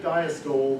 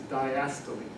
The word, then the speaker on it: diastole: And the word for the time between heartbeats, when the heart is at rest, it looks like diastole, but it's diastole. Okay? I'm not going to test you on pronunciation, it's just part of knowing.